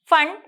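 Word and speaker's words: Pfund: series bracket series and fun series here p is silent so we'll call it as fun series these are the five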